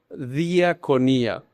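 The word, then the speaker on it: διακονία: Esa esas letras ahí, eso es griego y ahí dice se pronuncia diaconía.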